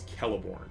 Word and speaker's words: Celeborn: of the rings online c is always pronounced as k it's never pronounced like he like celeborn is is not celeborn he's always kelliborn so um but i